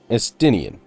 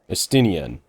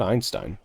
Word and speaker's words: Estinian: We must act quickly, for you see, Estinian. Why do I want to pronounce it Einstein? It's not Einstein.